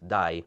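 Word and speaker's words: дай: And it also means die, like hair dye, like color. In Russian, "die", pronounced exactly the same, is the imperative of the verb to give.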